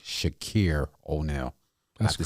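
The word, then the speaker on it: Shaqir O'Neal: I want to pronounce his name correct. Shakir O'Neal.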